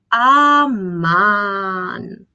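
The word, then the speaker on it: αμάν: We can say, aman, when something bad happens, to express our surprise and sadness. In this case, we separate somehow the two syllables and we produce a sound like aman.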